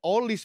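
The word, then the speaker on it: Olise: Eh, olis, Pak. Benar bacanya. Olis. Iya. Olis bacanya. Olis.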